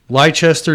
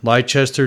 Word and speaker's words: Leicester: 201 Dix Creek 1 Road, Leicester, New York. Now that is spelled L as in lips, lip licks.